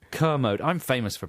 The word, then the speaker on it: Kermode: wrong a how do you pronounce it kermode kermode I'm famous for pronouncing